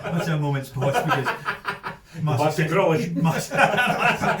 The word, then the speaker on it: Grealish: Grillish. Aye, it's like grill, but not totally grilled. Just grilled-ish, grillish.